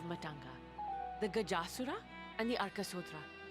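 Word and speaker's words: Arkasodara: the Gajasura and the Arkasodra. Oh, so you pronounce it as Arkasodra. That A between D and R is silent entirely. Arkasodra.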